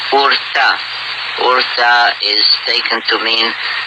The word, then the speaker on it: Ur: from a place called Urta. Urta is taken to mean the ancient or the olden place, but the name Ur, or Er as many pronounce it, should strike a bell,